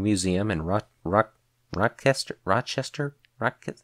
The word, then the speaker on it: Rochester: and Ro Rock rocker Rochester Rock how am I how am I never able to pronounce the city's name right it's Rochester Rochester there we go New York where the